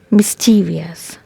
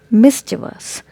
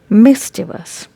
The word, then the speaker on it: mischievous: another word is this most of the people pronounce it like mischievous but this world is pronounced as mischievous mischievous mischievous means naughty for example he is a